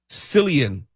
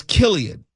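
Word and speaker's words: Cillian: I was pronouncing the name of the actor, the star of Oenheimer, Silian Murphy. Oh, yeah. That's been going around. And it's Killian.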